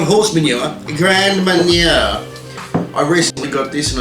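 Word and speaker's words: Grand Marnier: brandy right there okay this if i can pronounce it right is grand manure no not not horse manure grand mania i recently got this and i use it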